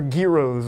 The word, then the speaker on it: gyro: And they make what they call gyros or gyros. Or gyros of around here.